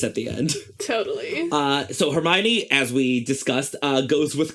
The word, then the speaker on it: Hermione: back then was, like, how do you say Hermione's name? Because no one had any idea. And so here Joe finally put in, it's like, Hermione. Hermonini, got it.